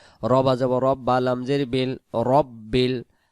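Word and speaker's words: رَبِّ: রবা যাব রব্বা, লাম জের বিল, রব্বিল, রব্বিল, রব্বিল, রব্বিল।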